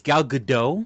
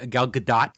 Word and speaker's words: Gal Gadot: I thought I think it's gal Godot not gal gadot but hey whatever I whatever it's a French pronunciation we're going I'm sorry